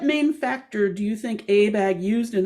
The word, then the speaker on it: ABAG: regional planning agency called the association of bay area government's pronounced abag in one of abag's